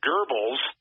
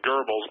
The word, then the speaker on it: Goebbels: Remember this, that Goebbels, or some people pronounce it Goebbels, but I pronounce it Goebbels, O-E with the umlauts, and I'm probably killing the Germans, so I apologize, but